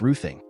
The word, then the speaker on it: Roding: Waters to the Tims roding was sometimes pronounced ruing a name going back